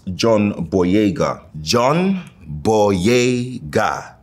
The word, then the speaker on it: Boyega: John Boyega. Bodega, but then just add that Y for everyone in New York.